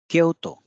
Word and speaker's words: Kyoto: extra u sound at the end otherwise the Kyoto word is similar to Tokyo Kyoto so we have o o and O Sounds here and the pronunciation will be kehoto few more words Kamakura